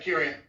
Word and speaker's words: Akurion: now that I Kurian is that how you pronounce it yeah Kurian yeah that's coming out on redefining out the